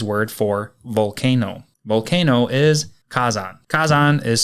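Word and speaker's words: 火山: be the Japanese word for volcano volcano is Kazan Kazan is spelled k a z n and Kazan is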